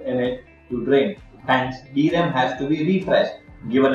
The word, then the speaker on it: DRAM: memory the abbreviated term is sram the dram pronounced as dram is widely used as a computer main memory